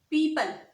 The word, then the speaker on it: people: is people people people now in this world you will ignore this oh because it is silent it is silent we will not read this Oh the word is people people people the next